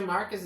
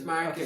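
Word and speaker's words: Márquez: Okay, It's Marquez. okay, In Marquez. English, I don't know. I think In English, for some reason they changed the stress, so it's Marquez. maybe.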